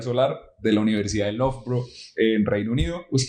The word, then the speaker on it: Loughborough: Se pronuncia Loughborough, pero se escribe re raro.